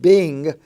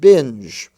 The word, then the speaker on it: binge: pronounced it's not pronounced Bing it's pronounced binge it's not pronounced sing It's pronounced singe and so these different